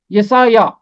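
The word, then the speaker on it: یسعیاہ: طرح ہے یسایا، یسایا عین کے نیچے زیر آئے گا، یسایا۔ یرمیہ، ابدیہ، صفنیہ، صفنیہ،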